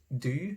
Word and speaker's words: du: So the singular form of you is du, and in German it's du, but in Norwegian it's du, so it's the short u.